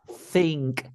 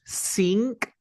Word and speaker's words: think: part this is pronunciation the verb is think think because because sink sink is like when you go to the bathroom when you go to